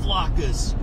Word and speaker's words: latke: So, they do have latkes.